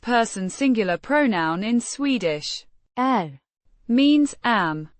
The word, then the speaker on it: är: Är Means am, pronounced. är A short and somewhat flat a. sound.